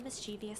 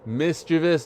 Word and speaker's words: mischievous: flashed a mischievous smile and cracked his knuckles. Mischievous, not mischievous!